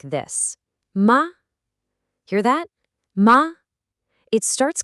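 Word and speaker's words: 麻: That upward inflection, that's it. That's the second tone. Try it with the syllable ma. And just like that, with that simple rising tone, the meaning is totally different. Ma is not mother. It's hemp.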